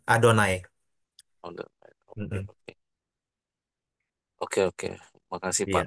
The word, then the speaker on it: Adonai: ada yang bacanya yahwe ada yang bacanya yehovah tapi sebenarnya orang Yahudi sendiri enggak enggak baca Oh iya mereka nyebutnya bukan yahwe bukan Yehova tapi adonai Oke Oke Oke makasih